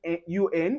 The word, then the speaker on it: un: Now anywhere you see un, you pronounce it as un, and that's where we get un.